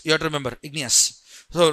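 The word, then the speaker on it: igneous: Remember the pronunciation igny and us. You have to remember ignous.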